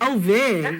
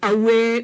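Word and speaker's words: ʻawe: Okay, so either way is right, but there are times when it's definitely not a V, like away. You know, if you start walking around saying "ave," you know, people start looking at you like, "Hello, what you Italian?"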